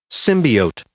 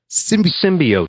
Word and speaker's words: symbiote: The first one is this is the first pronunciation. Symbiote. Symbiote. Symbiote.